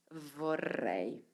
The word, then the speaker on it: vorrei: vorrei vrei isso e um segredo para os portugueses os brasileiros pronunciar esse R porque é um R vibrante e é frontal e na frente mas você pode pensar em uma palavra que é portuguesa como cenoura pode falar cenoura cenoura então Sr de cenoura